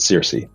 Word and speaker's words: Circe: So Circe, it's actually from the Greek goddess Kirke, but we pronounce it Circe.